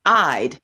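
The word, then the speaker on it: Eide: quickly to our next presentation her name is pronounced i'd it's spelled e-i-d-e i remember denise eid is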